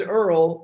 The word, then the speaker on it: URL: And his name is Earl, but it's spelled URL.